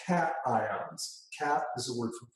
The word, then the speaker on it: cation: They're called cations.